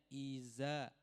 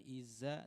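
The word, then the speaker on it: إذا: pertama ini yang pertama pengucapan huruf dza Saya sering-sering ulang karena memang selalu terjadi dibacanya idza bukan Iza tetapi idza ujung lidah dengan ujung gigi seri atas Jadi bukan Iza tetapi idza itu yang pertama yang kedua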